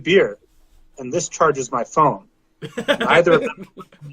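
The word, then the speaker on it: phở: It's pronounced pho, not pho.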